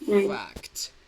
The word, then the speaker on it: fact: Here, don't forget the sound before the t sound. Fact.